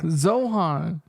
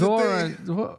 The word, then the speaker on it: Zohran: Zohan. Yeah. But it's Zohran.